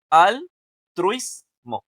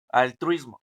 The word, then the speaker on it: altruismo: Y la más fuerte, pues está en la truis, ¿no? O sea, la penúltima. La truis sería la más fuerte y es la penúltima.